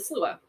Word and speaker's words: sluagh: So number 7, they call the slua, which you would think is spelled like SLU. I don't know, but it's spelled like SLUAGH. Slua.